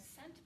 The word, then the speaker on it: cent: Oh, you might have heard of a cent before. There's 100 cents in every dollar because the word cent means 100. Notice it's spelt with a C because the E makes the C say S.